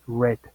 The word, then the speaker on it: read: ya están en pasado read en pasado se escribe igualito pero se pronuncia red como si fuera el color rojo Go que es el